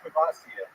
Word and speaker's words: Shavasana: It's pronounced Shavasana.